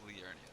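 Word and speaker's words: Liurnia: and start exploring uh learia that's how you pronounce it there she is a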